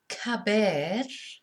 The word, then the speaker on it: caber: So our first verb that we have, caber, is CA. So it's a K sound when it's followed by an A.